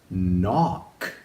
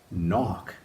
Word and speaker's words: knock: Our next word has a silent K at the beginning. Something you do on a door is you knock. Knock. N O A C knock. So even though there's five letters, there's only three sounds. Silent K at the beginning and that CK at the end that makes the one sound.